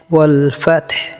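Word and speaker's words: وَالْفَتْحُ: ওয়াল ফাতহ শেষে হা উচ্চারণ হবে।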